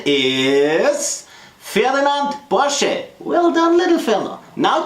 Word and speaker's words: Porsche: So, and the proper pronunciation is Ferdinand Porsche.